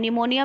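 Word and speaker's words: pneumonia: है निमोनिया most important निमोनिया में piece silent होता है जिसमें 20 साइलेंट होता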